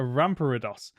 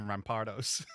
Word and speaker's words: Rampardos: It lived in the same environment as a Rampardos.